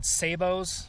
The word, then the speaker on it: sabot: drive some people crazy, but it's spelled like sabot. And I'm not French, so why wouldn't I call it sabot?